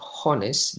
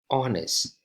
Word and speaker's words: honest: the pronunciation is not honest the pronunciation is honest it is as if we start with an O not an H so we say an